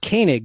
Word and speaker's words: Koenig: Martin Lando's character in space 1999 Koenig it's pronounced Koenig though uh Walter Koenig but Koenig is how they say it uh